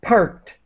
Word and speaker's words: parked: Parked. So to park in past, the Mark. ED is pronounced as a T.